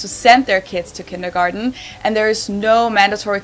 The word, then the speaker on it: Kindergarten: Yeah, in German we pronounce it kindergarten and it literally means children's garden.